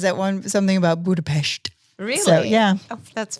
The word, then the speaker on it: Budapest: And Budapest. Budapest. Budapes. It's shesh. Shushesh. Not with not with a te.